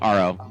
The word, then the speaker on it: AHRO: always say it right it's just like the letter r the letter O So r o yeah that's funny I